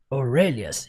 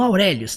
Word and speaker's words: Aurelius: Aurelias, não, Aurélios, tá?